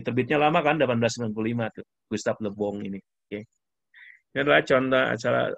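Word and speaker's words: Le Bon: Charles Mari Gustav Lebong nah dibacanya Gustav Lebong no Perancis Lebong dibacanya ini adalah salah satu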